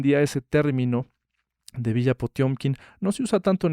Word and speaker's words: Potiomkin: que era Grigori Potiomkin, que se pronuncia, por cierto, así, Potiomkin, no es Potemkin. Lo que pasa es que en ruso hay una especie de E que tiene diéresis, que no se pronuncia E, se pronuncia yo.